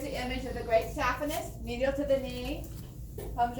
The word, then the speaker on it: saphenous: The saphenous veins, or they're sometimes pronounced saphenous.